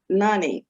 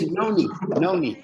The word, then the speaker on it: Noni: know, we have a new product, and it's Nani, and I probably am not pronouncing it correctly because, you know, Uncle Mike is always about pronouncing things correctly. So did I say that right? Yeah. It's Noni.